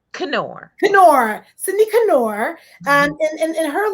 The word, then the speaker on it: Knorr: Yeah, actually, we pronounce the K. Knorr.